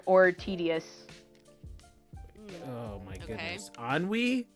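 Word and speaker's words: ennui: up what is any Katie look it up anwe I think it is oh anwe I'm sorry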